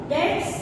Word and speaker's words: debts: Number 4, debts. D-E-B-T-S. यहाँ पे बेटे B साइलेंट है.